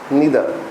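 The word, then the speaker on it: neither: इनको आइदर नाइदर भी बोल सकते हैं, इधर नीदर भी बोला जाता है। ठीक है, उचित प्रोनाउंसिएशन तो यही होगी, इधर और नीदर, और एक होता ईच।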